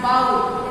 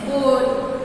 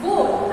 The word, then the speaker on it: bowl: Don't call this word a as bow. It's not bow. It's bowl. Always remember and always please correct. Correct it if you are pronouncing it wrong. It's bowl and not bow.